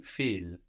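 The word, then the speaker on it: viel: how much is V feel V feel V feel feel is spelled v i e l v i e l and of course the B gives us an F sound like in first to understand feel so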